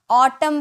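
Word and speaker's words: autumn: जाता कॉलम पढ़ते हैं वैसे ही ऑटम पढ़ते हैं ऑटम नहीं पढ़ते हैं ठीक है ऑटम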